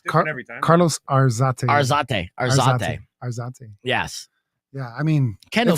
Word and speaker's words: Arzate: Arzate.